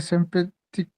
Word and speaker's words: sympathique: ma elle est très sympathique, सिम, ए की sound क्या होता है, ah, आ, sympa, तो कैसे पढ़ोगे, सिम्पा, यस, sympathique, वेरी नाइस, बस सिंपैथिक, कू नहीं, sympathique, सिंपैथिक, okay, ठीक है।